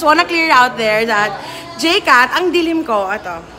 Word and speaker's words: Jcat: Just wanna clear out there that Jcat, ang dilim ko, ato. I just wanna clear it out there that Jcat is not pronounced with an S.